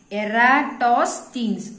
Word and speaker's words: Eratosthenes: This is word pronounce panna kashthama irundha innoru thadi solren. Eratosthenes.